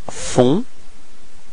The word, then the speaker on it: font: Ils font. Okay, so you get this nasal O-N, on. Okay, and then the final T is not pronounced.